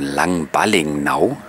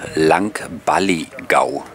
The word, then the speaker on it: Langballigau: Jetzt sind wir schon im Hafen angekommen von Langballingnau. Ich hoffe, ich habe es jetzt richtig ausgesprochen. Dort steht es aber auch nochmal auf dem Schild Langballigau oder Balligau, wie man es hier nachdem ausspricht.